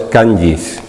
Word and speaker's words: kanji: Han, son los llamados kanjis. Kanjis que a lo mejor lo habéis escrito y leéis kanji. La J en japonés, como en muchos otros idiomas, no se pronuncia, es como una Y, ¿no?